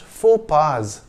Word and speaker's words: faux pas: the singular but pronounced four pars in english though in french the plural is pronounced the same as the singular in english you could